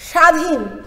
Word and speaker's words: স্বাধীন: স্বাধীন, স্বাধীন যখন বলি তখন দন্তস্বটাকে আমরা ছয়ের মতো বা হালকাভাবে উচ্চারণ না করে অনেক জোর দিয়ে উচ্চারণ করি, স্বাধীন।